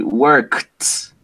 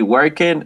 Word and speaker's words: worked: That K sound does not make your vocal cords vibrate, so it is voiceless. That means that the correct pronunciation in this case is going to be t. It's going to be worked, worked, worked, worked.